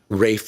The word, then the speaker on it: Ralph: by a british composer rafe von williams spelled like ralph uh this is full